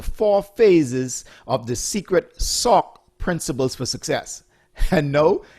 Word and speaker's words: SOCC: o c c principle it's just pronounced or i pronounce it as sock okay you're still with